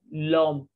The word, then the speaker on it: l'homme: But in French, H is considered as vowel but mute sound.